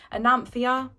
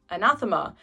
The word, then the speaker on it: Anathema: So first up we have Anathema. That's not how you pronounce it. Anathema.